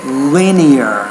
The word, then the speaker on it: linear: asked is let's say linear linear so you had some trouble pronouncing that there's actually three syllables to that one which can be more